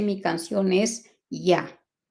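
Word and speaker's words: יה: allá entonces sabemos que esa primera parte las dos primeras letras se pronuncian Ya ahora al agregar las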